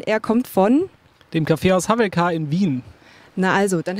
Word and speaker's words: Hawelka: Dem Kaffeehaus Havelka in Wien.